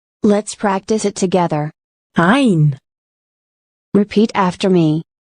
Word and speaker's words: عين: The sound comes from a very deep part in the throat. Let's practice it together. عين. Repeat after me. عين.